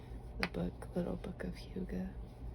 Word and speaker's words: hygge: It was popularized by the book Little Book of Hygge. The way it's spelled looks like Heige, and it's hygge.